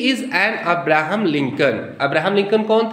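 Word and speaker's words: Lincoln: और ध्यान दीजिए अब्राहम लिंकन की स्पेलिंग जरा देखिए अब्राहम का तो ठीक है लिंकन का देखिए एल आई एन सी ओ एल एन वो जो एन के पहले एल है वो साइलेंट है वैसे शेक्सपियर की जो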